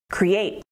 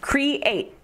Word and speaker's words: create: Create. It has two syllables, create, with the emphasis on the second syllable, create, create, create.